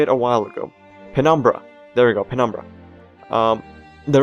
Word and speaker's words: Penumbra: I use Penobrim, or Penobram, or Penobrim? I swear I knew how to say it a while ago. Penumbra.